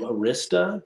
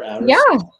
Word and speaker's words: Arista: executives started to from Arista back in, or Arista, wherever you want to put the emphasis on the syllable.